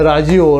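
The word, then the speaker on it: ラジオ: 자 조금만 더 밖에 라라는 라지 와 꽤 라지오 라지오 5 우리나라 라디오 듣는거 테레비 말 아니고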